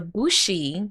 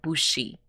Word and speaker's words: bushi: world yes but the bushi which are it's not bushy it's bush i don't know why